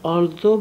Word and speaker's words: although: Although به معنای اگرچه. به معنای چیه؟ بفرمید. Although به چه معناست؟ اگرچه. این GH در آخرش هم تلفظ نمیشه.